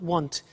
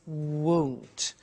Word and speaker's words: won't: the money is won't be careful with the pronunciation it's not want it's won't so the example is